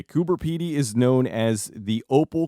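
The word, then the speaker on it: Coober Pedy: Heroes was shot in kuber py Australia I double checked with an actual Australian so if you complain that I'm saying it wrong you're wrong anyway kuber py is known as the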